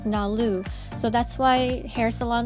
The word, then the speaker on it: NALU: Number 76 in Japanese can be pronounced as NALU.